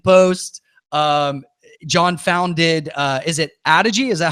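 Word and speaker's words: Adogy: John founded, is it Adigi? Is that how you pronounce it?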